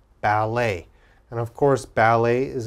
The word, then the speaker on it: ballet: e d e t now in french when we're speaking french t has an a sound a so let's look at the first word now we would pronounce this bal a ballet ballet and of course ballet